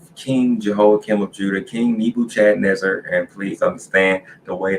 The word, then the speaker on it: Nebuchadnezzar: So that's why I say Nebu, Chad, Nezzar. I don't know where these people are getting Nebuchadnezzar from. That is not it. That is not pronouncing the D at all.